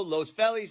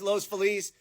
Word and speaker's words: Los Feliz: So, in conclusion, I know my pronunciation is terrible and I know you have a certain way of pronouncing San Pedro, San Pedro, Los Felis, Los Feliz, and we haven't even begun to talk about